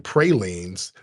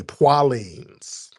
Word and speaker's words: praline: Louisiana, they call like pecan pralines, they say poilines. We're my Louisiana people. You go down there, they say, you want some poilines, baby? Now you look stupid trying to correct them people. That's how they say it. It's not, oh, no, it's praline. What you talking about, baby? It's poilines down here, baby. Now they know how to say pralines, but it's poilines. It's not like they don't know how to say it.